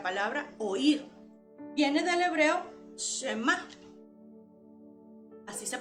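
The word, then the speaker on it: שמע: palabra escuchar la palabra oír viene del hebreo shema así se pronuncia shema y significa escuchar pero a la vez significa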